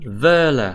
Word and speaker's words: Wöhler: Wöhler, cái chữ W này đọc là V nè, và cái chữ O hai dấu chấm này là OE đó.